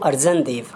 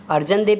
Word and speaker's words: अर्जन देव: Next question is name the Mughal ruler who killed Sikh Guru अर्जन देव। अर्जन देव भी बोला जाता है या अर्जुन देव भी प्रोनाउंस किया जाता है, कि उस मुगल शासक